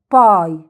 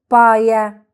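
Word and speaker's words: bye: الحرف ده اسمه ايه؟ اي، يبقى ننطقه باسمه، تبقى باي. باي، مش هنقول بايا.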